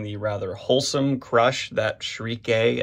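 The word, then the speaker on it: Schierke: I think we're very deliberately also getting this nice juxtaposition between the rather wholesome crush that Shriek A, as my chat here on Twitch is letting me know it's pronounced, has on Guts, and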